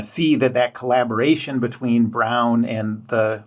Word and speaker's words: Braun: record player Radio uh by the German company Brown um spells like spelled like like Braun um and this was an